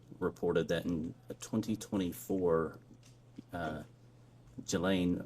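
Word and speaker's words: Ghislaine: that in 2024 uh Gelain Maxwell or Gilain I think is how it's pronounced arranged and wired $1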